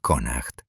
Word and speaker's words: Connacht: Durante varias generaciones habían controlado firmemente las peligrosas bahías de la región de Connacht, pronunciado Conacht, cobrando pesados tributos a cualquier embarcación que se atreviera a cruzar sus aguas territoriales.